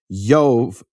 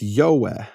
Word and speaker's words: Jove: But basically in the early Latin, it wasn't a V, it was a W. And so it wasn't pronounced Jove, it was pronounced Yahweh in Latin 2,000 years ago.